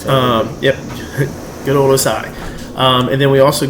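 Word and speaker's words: Ossai: guy that's going to shock the world is osai defensive and out of texas yeah that's how you pronounce that um yep good old osai um and then we also got the number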